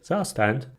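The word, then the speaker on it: Zustand: By the way, I know its pronunciation is different. It's a German word, but I'm gonna say Zastand.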